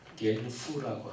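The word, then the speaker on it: Genf: 독일말 발음으로는 겐프라고 하는데요. 영어식으로 제네바. 제네바가 아까 얘기한 장 깔벤, 요한 칼빈이 거의 평생 개혁운동을 했던 그러니까 요한 칼빈 그러면 제네바를 생각하시면 됩니다.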